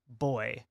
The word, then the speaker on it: buoy: say buoyant but also I know Americans get made fun of for the way that we pronounce buoy um instead of boy which is how so boy so